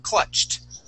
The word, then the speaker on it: clutched: ends with the CH when you add an ed D here okay that then sounds like a t all right the word is clutched clutched good one more